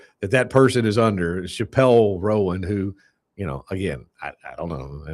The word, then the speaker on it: Chappell Roan: Chappell, see I even mispronounced the name. Yeah, it's Chappell Roan.